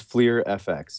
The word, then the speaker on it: Fleer FX: you pronounce this product it is Fleer FX yeah Fleer FX like Fleer like the baseball cards basically I see okay